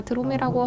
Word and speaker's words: 드로미: 저희 회사의 이름은 드로미입니다 제가 드로미라고 할 때 대부분 한국인들은 두루미 학을 생각합니다 이제 두루 하게 한국식 이름이 두루미거든요 그래서 두루미와 두루미가 발음이 굉장히 비슷하죠 그런데 오늘은 뭐 저의